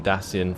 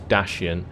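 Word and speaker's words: Dacian: just before anyone says I have the habit of calling them dasian from Rome Total War but I think the actual real pronunciation is dashian as in sh rather than the actual C hidden pronunciation there it should be simple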